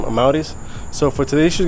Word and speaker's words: Amauris: I'm Maurice.